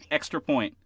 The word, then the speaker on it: XTRAPOINT: It's one word. It's spelled with an X, like it is up there, right? One word, Extra Point.